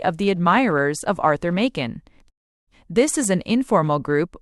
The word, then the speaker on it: Machen: Knops admin applying modern techniques exhorted readers to remember Makin. It rhymes with Kraken.